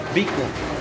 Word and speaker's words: Biko: Biko.